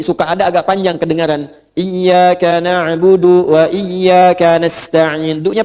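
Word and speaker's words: إِيَّاكَ: Jadi ada juga yang baca pakai fathah ayak waak tapi tetap dalam bacaan salat dan bacaan Al-Qur'an dibacanya pakai kasrah. Iyaka, iyaka, iyaka. Jangan dibaca ayyaka, jangan dibaca hayyaka dalam salat ya kan. Dan jangan dibaca iyaka. Dibacanya apa? Iyaka.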